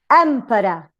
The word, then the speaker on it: emperor: So, for example, quantity, t, schwa, weak, t, neutrally weak. Custody, custody, the same example. Emperor, emperor. Enmity, enmity. So we tend to use it, we use it in the first syllable if the rest are weak.